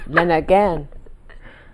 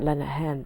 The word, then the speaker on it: Lenehan: And Dad was born in Montreal, and they said Lenegan, not Lenehan, because they can't pronounce the H.